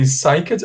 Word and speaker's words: psyched: I can say psyched up. Aqui tem som de T, tá? Ó. Psyched. Psyched. The P is not pronounced. Eu pronuncio com som de psi, ó.